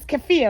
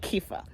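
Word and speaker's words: kefir: Kea cafia it's is they say the right pronunciation is cafia right cfia but Americans call it kefa um so I drank plain whole milk not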